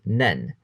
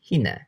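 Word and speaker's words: 捻: The Chinese pronunciation for this kanji is nen. An example of this can be seen with the word nenza, sprain. However, if you were to look at twist in this context, you would have to pronounce it as hine.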